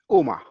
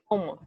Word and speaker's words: Uma: Is that correct how I'm pronouncing that? Uma. Uma.